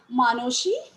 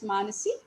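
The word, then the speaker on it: মানসী: Among his 50 and odd volumes of poetry are Bhanusimo Thakurer Padoboli, I am pronouncing it as the Bengalis do, Manoshi, that is Manasi, Sonatori, Sonartari, Gitanjali, Gitamolo, and Balok.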